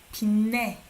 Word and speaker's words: 빛내: But here, when you pronounce this one, you say 빛내. Okay, it sounds like N here.